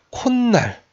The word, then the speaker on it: 콧날: 그래서 발음해본 콧날, 코날이 아니라 콧날, 비물이 아니라 빗물이라고 지금 여기서 니은 소리가 덧나더라 이렇게.